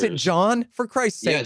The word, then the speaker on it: Gian: gentile who who's writing a oh you just pronounce it john for christ's sake spell it like i'm sorry